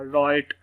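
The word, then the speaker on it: write: इसकी डब्ल्यू की आवाज़ नहीं आएगी, ये आर से ही शुरू होगा। राइट, आर की क्या साउंड है जी, रॉ, तो ये डब्ल्यू यहाँ पर साइलेंट, इसकी आवाज़ भी नहीं आएगी।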